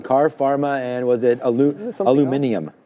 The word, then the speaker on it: aluminium: And there was one other one, car, pharma, and was it aluminium? Aluminium, which is how you say it.